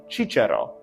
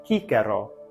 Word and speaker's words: Cicero: ecclesiastical pronunciation it'll be chicharo chicharo with a cha sound the cha sound doesn't exist in classical Latin here it's pronounced hikero hikero with a hard C Sound example one example two